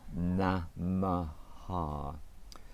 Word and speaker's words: Namaha: And the last one is 3 syllables, namaha.